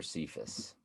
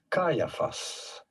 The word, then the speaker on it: Caiaphas: plot to kill jesus how do you go about pronouncing his name caiaphas caiaphas caiaphas that wasn't what i said caiaphas did any of y'all have that kai uh fuss kai caiaphas being the